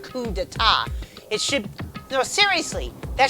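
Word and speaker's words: coup d'état: That should still be pronounced coup d'etat.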